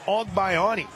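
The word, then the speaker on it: Agbayani: The BYU lineup really challenges the pronunciation guy. Elena Ogbayani will lead things off.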